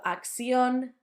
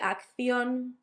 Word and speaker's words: acción: I've told you before that third sound can be substituted for a s. So acción, dirección, completely fine. I would say acción, dirección. Not too bad, is it?